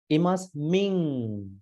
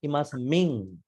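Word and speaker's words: imasmiṃ: Imasming. There's a nasal sound. Imasming.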